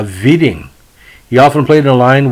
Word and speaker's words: Widing: the nickname whitey and instructed his announcers to pronounce his last name as a whiting uh as opposed to the real pronouncing uh viding he often played in